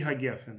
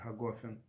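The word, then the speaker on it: הגפן: Благословен Всевышний, который создал или создает, да, боре, тут трудно перевести, это лешон бейнони называется, боре при Гагефен или Гагофен, или Гагафен, да, разные есть произношения. Сефардим произносит Гагефен, боре при Гагефен, создающий плод виноградной лозы.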